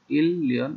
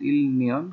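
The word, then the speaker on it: 일년: Last one হলো খিয়াউল শীতকাল, শীতকালে কি করে ইল্লিয়ন, ইল্লিয়ন এক বছর, লেখা আছে ইলনিয়ন কিন্তু উচ্চারণ হবে ইল্লিয়ন, ইলের নিচে রিয়ল থাকতেছে পরে আরেকটা নিয়ন আসলে দুইটা লয়ল উচ্চারণ হয় ইল্লিয়ন এক বছর।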